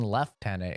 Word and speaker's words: lieutenant: why is it still spelled lieutenant in the subtitles but they're saying left tenant is this like a different rank than a lieutenant and no just come to find out it's the Brit some mispronouncing their own language so you got to